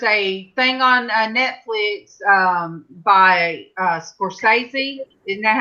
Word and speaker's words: Scorsese: There's a thing on Netflix by Scorsese. Isn't that how you say his name? Yep, Martin Scorsese.